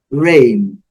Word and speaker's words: reign: Rain, muito simples, sem comentários também, lembrando, a letra G silenciosa, o N com som dele, rain.